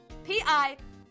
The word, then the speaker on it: piques: That is how you spell it. P-I-Q-U-E-S.